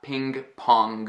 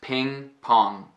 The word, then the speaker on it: ping-pong: It's not ping pong. I'm really pronouncing that g. It's ping pong.